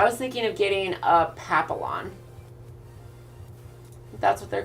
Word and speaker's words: papillon: name for the dreads it's pronounced papillon is it really pappy yawn on oh they